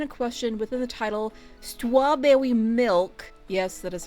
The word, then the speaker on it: Stwawbwewymilk: So, for some quick context, the person in question within the title, Stwawbwewymilk, yes, that is how they created and pronounced their username, who also went by many